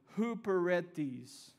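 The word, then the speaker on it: ὑπηρέτης: bear with me let me say it correctly Hooper read these who Peretti's literally means this concept of being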